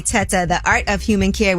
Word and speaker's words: Tetteh: Well, I trust anybody whose last name rhymes with Meta. Okay. That is Dr. Hassan A. Teta, The Art of Human Care with AI, with Artificial Intelligence.